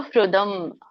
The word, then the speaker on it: ಸುಹೃದಂ: ಮಕ್ಕೆ ವ್ಯಂಜನ ಇದೆ ಮಹೇಶ್ವರಂ ಸೊ ಸುಹೃದಂ ಹ ಕ್ಕೆ ಒಟ್ಟರಸುಳಿದೆ ಸುಹೃ ಋ ಹೇಳಬೇಕು ಋಷಿರು ಋೃದಂ ಸರ್ವಭೂತಾನಾಂ ಜ್ಞಾತ್ವ ಮಾಂ